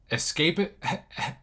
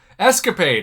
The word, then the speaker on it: escapade: prevention scientific combustion scientific escape it i totally mispronounced that escapade i almost said escape aid which sounds like something